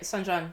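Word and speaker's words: sanxian: does everybody know what I think the pronunciation is Sanjian? Yeah, that's right, Sanjan.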